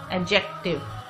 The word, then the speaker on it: adjective: Breath, suggestion, appreciation, assume, adjective. Adjective, the D sound is silent, it is not pronounced.